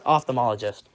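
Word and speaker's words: ophthalmologist: It's not opthalm. It's opthalmologist. Okay. So, opthalmologist.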